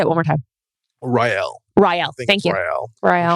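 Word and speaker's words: R'lyeh: Rael. Thank you. Rael. Rael. We should have one of the Cult of Lore guys pronounce it.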